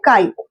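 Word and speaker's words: χ: इसको प्रोनाउंस करते हैं काई.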